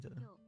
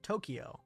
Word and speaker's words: Tokyo: And listen to the correct pronunciation of Tokyo. Yes, so the English pronunciation of Tokyo is not the same as the Japanese pronunciation.